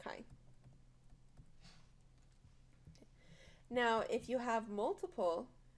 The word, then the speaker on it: chi: little thing this is the Greek letter Chi well then you say like this but it's spelled Zhi but it sounds like Chi now if you have